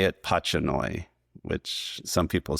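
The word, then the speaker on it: pachanoi: it's named after and pronounce it more like his name. So I do say it patchoi which some people say it differently.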